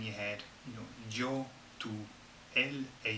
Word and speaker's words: tú: Tú. Tú. Okay, rhymes, doesn't it? You, tú.